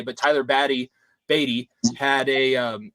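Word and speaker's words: Badie: to say his name he was on the radio and said that his name was ba batty not baddy or baday because CBS continually tries to call him Bay but Tyler baddy batty had a um s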